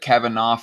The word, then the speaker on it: Kavanaugh: Report, if confirmed, Kavanaugh, I've heard it pronounced Kavanaugh, but I'm going to pronounce it Kavanaugh because it's, I don't know, it's spelled like laugh in the last few letters here, will be the second